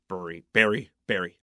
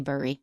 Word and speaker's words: bury: Bury. Because I know that in Philadelphia, a lot of people say bury.